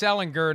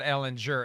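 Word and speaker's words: Ehlinger: By the way, speaking of dysfunctional, it's Ellinger, not Ellinger.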